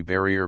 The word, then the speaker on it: barrier: in the elephant 223 barrier pronounced like the French barrier as a word of two syllables with the accent on the last 226 cents thought sensation